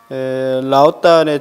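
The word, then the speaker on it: 老聃: 중국 철학사 제5장 라오딴의 철학사상이라고 되어 있는데요. 우리 교재 107쪽입니다. 거기 보시면 라오딴 이렇게 중국 발음으로 되어 있는데 우리말로 노담이에요.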